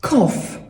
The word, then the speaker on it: cough: To słowo wygląda na skomplikowane, prawda? Ale czyta się je banalnie prosto. Kof. Kof. Brzmi prawie jak koffe. Coffee, kawa tylko bez i.